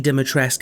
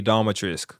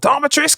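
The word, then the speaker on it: Dimitrescu: it a stack though you still pronounce that you're wrong it's lady Dhat trisk cuz that's what she says in the game you dare insult the house of diatris or some [ __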